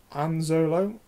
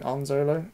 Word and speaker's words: Anzolo: Anzolo, as in Anzolo, with Han Solo.